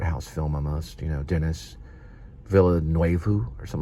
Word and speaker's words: Denis Villeneuve: You don't even say Dennis, you say Denny.